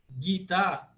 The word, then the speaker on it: Gita: Depois, na segunda palavra do composto, né, Gita, eu tenho duas pesadas, na verdade, que as duas são longas. Então, as duas são longas e as duas são pesadas. Então, nesse caso, ela se torna paroxítona.